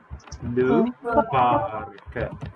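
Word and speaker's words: le parc: طيب الكلمه دي اخر حرف هننطقه زي الكي، يبقى اسمها لو بارك.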